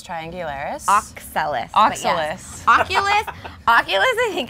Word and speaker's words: Oxalis: So, okay, so one of your favorite houseplants is the Oculus triangularis. Oxalis.